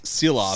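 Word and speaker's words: Šilovs: Oh, Artur's Seelovs. That's it. Seelovs.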